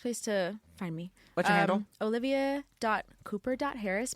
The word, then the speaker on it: Kuper: cooper. Harris my middle name is spelled like super with a K I like just spell differently with a K it's just K so is olivia.